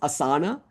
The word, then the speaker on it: Asana: And she pipes up and says, "Um, it's pronounced Asana."